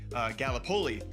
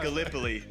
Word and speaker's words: Gallipoli: Game right, because being from Iowa, I said Gallipoli, and it is pronounced Gallipoli.